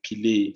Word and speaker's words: Pillay: No, the pronunciation is perfect. It's Pillay.